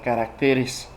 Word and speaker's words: caracteres: porque tengo entendido que en singular se pronuncia carácter y en plural caracteres pregúntenselo a su maestro